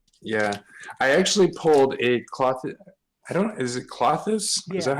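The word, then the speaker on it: Klothys: Yeah, I actually pulled a cloth. Is it Clothis?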